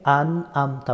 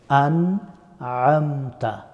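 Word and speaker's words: أَنْعَمْتَ: সিরাতাল মুস্তাকিম সিরাতাল্লাজিনা আন আমতা আলাইহিম এখানে অনেকেই আন আমতা বলে থাকেন এখানে হামজা এবং আইন দুইটা সম্পূর্ণ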